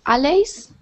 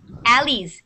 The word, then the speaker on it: alleys: what's the meaning of allies alleys alleys this word is alleys okay what are alleys